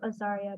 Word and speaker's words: Azaria: And I'm referring to Azaria, by the way, I pronounce it right now because in Hebrew, to pronounce it this way is a blessing.